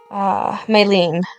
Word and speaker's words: Maylene: And half when the Maylene.